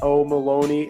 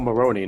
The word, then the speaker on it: Maroney: can find Oliver at oma Loney and be a on both Twitter and Instagram I said that right right Oh Maroney not Maloney I said your last